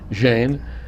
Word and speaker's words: Jain: And how do I pronounce it? Sangeeta. Sangeeta Yep. Jain.